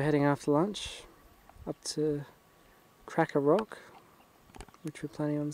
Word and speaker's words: Krakouer: We think it's Krakouer, but the guy was Jewish and it's spelt with a lot of extra vowels, so we're not quite sure, but we heard the lady in town said Krakouer, so.